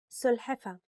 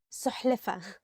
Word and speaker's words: سلحفة: سلحفة. Turtle. سلحفة. Turtle. And sometimes people mix it with سحلفة.